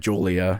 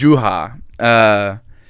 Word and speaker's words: Juha: I said Julia. His name is Julia. But it's Juha.